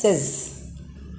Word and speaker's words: says: It becomes as, you have to pronounce it as says.